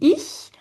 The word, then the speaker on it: ich: Et vous voyez quand je dis ich, je souris. I hein. D'accord ? Ça vient du fond là de la de la bouche comme ça. Et en fait c'est comme quand vous dites en français oui.